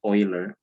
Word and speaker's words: Euler: That's why you pronounce this as Euler, Leonhard Euler.